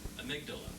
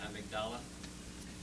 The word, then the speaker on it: amygdala: the brain, and the amygdala. I don't pronounce that right, amygdala is how you pronounce it.